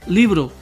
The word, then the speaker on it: libro: Mira esta otra palabra. Libro. Así se divide. Libro. ¿Cuál es la sílaba tónica?